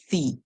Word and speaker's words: the: Remember, when this word comes before words that begin with vowels, we say the.